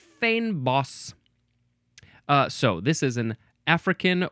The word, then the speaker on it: fynbos: Fynbos. It is spelled Fynbos. According to the pronunciation, it looks like it is pronounced fynbos.